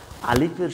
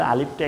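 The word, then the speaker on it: ألف: দেখুন আলিফটা হলো মুখের খালি জায়গা থেকে। আপনি স্বাভাবিকভাবে যদি বলে দেন আলিফ আলিফ আলিফ আলিফ জাস্ট একটু বাতাস বের হবে।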